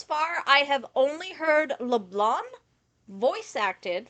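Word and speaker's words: Leblanc: re hours to realize the sea wasn't was silent in Leblon okay but shotty you're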